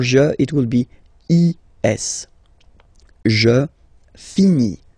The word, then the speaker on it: finis: Remember, final S is not pronounced. Je finis. Okay? Tu finis. So ES as well, like we had for je. So same way to pronounce it as well. You don't pronounce the final S. Tu finis.